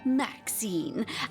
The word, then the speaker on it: Maxine: I am Maxine. I'm the mayor's cat, don't you know? Born and raised on velvets and viands of most exquisite varieties. Maxine rhymes with queen, after all, and dearest.